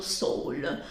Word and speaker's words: Seoul: nell'università più prestigiosa di Seoul, pronunciato Seoul, e allora diventa un figo pazzesco.